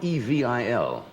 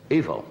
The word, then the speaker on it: Knievel: first met you it's not evey il evil it's really it's evey EO I suppose he pronounces it evil does he not I think he says evil Oh we'll find out what